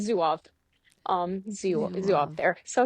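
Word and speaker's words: Zouave: Um, it's pronounced zoo. Zoh, but most people I hear say zuof.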